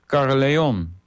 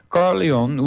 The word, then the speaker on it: Caerleon: translation of the Welsh Caerleon. I hope I pronounced that right. It's Caer-Llaon. Llaon is a lion, and not the original of that appellation.